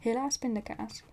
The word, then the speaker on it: helaas pindakaas: Helaas pindakaas. Oh well, peanut butter. Next thing you needed here, right? Right? Oh well, peanut butter. If you say it like that. But helaas pindakaas, it rhymes.